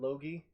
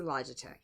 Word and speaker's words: Logitech: So, the Logi? Is that how you pronounce it? Oh, it's a Logitech.